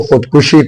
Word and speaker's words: خودکشی: ہو کر اپنے ہاتھوں خودکشی کر لی۔ تو خودکشی، خے کے اوپر پیش وہ دال سائلنٹ، کاف کے اوپر پیش شن اور چوٹی یہ سائلنٹ۔ تو خود کو مارنے